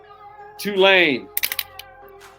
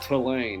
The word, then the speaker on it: Tulane: All right, Tulane. And I want to correct people who say it wrong. It's not Tulane, it's Tulane.